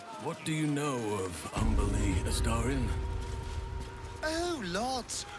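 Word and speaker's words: Umberlee: What do you know of Umberly, Astarion? Oh, lots. Rhymes with undersea, for one thing.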